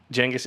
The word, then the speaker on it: Genghis: Genghis is the correct pronunciation.